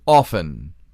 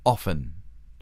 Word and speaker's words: often: And one of the words was often. And we were taught on that quiz, that little test, that the T is silent.